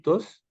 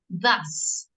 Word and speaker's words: thus: What is the correct pronunciation? Tus, Thus.